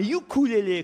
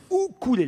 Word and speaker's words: ukulélé: de plus grave alors sachez qu'on ne dit pas un ukulélé comme vous l'avez beaucoup les uns ou couler les il faut pas prononcer le hip à de ukulélé mais où coulait laisser la prononciation hawaïenne qui est plus chic quand on veut parler